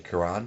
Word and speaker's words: Cuarón: I can pronounce his name. Cuarón.